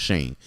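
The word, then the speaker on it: Schoen: I don't remember his first name, but his last name is probably pronounced Shane, but it's S C H O E N.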